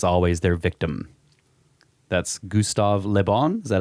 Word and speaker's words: Le Bon: That's Gustave Le Bon.